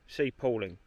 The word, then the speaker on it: Palling: from here to C Pauling. That's how they say it. Cooling. P A L I N G. Looks like padding or pooling. Yeah, Pauling. Yeah, I guess it is Pauling.